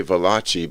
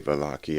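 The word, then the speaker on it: Valachi: valakki or i vote i used to say velachi but it's italian so i guess i should say balaki i i'm not really sure how he pronounced it um v-a-l-a-c-h-i the famous uh vlocky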